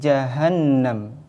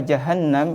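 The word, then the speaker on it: جهنم: masuk dengan dengung jadi ketika kita membaca jahanam itu tidak langsung Hadi jahanam tapi harus didengungkan masuk dengan dengung harus ditahan ditekan seperti contoh Hadi jahanamatiumun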